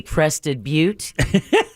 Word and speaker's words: Crested Butte: a couple of times specifically crested butte did not know b-u-t-t-e is a long u as in butte yeah so